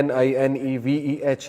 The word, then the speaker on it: Nineveh: نینوا اس کا تلفظ ہے NINEVEH.